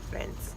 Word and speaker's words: Reims: okay it's ridiculously early and we're going to Reims which is actually pronounced Vince it's like 7:45 at home 27 yes people